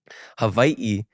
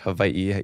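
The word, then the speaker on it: Hawaiʻi: Hawaii you know it's you have a different pronunciation of the W sometimes but in the Hawaiian language just to clarify for people who are curious Havi is the Hawaiian way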